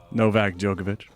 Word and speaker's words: Novak Djokovic: Novak Djokovic.